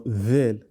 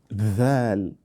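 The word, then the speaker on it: ذال: You must always note that the phonetic sound of dal and dhal should not be not del or dhel, but dal, dhal.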